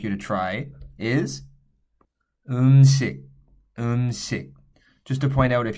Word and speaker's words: 음식: I sound in Korean, the S sounds more like a sh than a s. So this would be pronounced 음식.